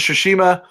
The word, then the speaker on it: Tsushima: really I read that wrong yeah ghost of Tsushima is how you say Tsushima I don't know you pronounce ax I have that as Tsushima that